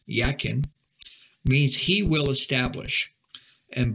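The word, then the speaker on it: Jachin: their names are significant Jack can pronounce it actually is pronounced yakin means he will establish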